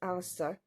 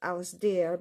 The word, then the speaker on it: Alistair: Although my son's name, his full first name is Alistair, a lot of people think it's pronounced Alasdair because it's spelled Alasdair, but it's actually the Gaelic spelling, and it was maybe meant to be.